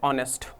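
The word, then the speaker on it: honest: शब्द की बात करूं, अगला शब्द हमारा क्या है, ऑनेस्ट। प्रोनाउंसिएशन देख रहे हो ना, साउंड कैसा है, मतलब किसकी बात कर रहा है, वाउल्स।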